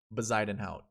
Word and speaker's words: Bezuidenhout: Bezuidenhout.